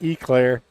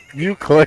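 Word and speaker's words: éclair: like I was saying instead of you CLA I was saying eclair and uh somebody's like you hillbilly it's pronounced you CLA I'm like wa I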